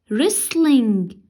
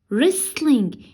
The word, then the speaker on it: wrestling: first sport or game wrestling wrestling here we have two silent letters the first one is w is silent and the T is silent so it is whistling